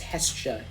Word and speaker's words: Hestia: I've heard it pronounced Hestia too. I kind of like Hestia better.